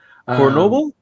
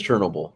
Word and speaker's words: Chernobyl: Anyways, is it Chernobyl? I don't It is Chernobyl. Chernobyl is where they are that no clear, but I don't think it's spelled like that.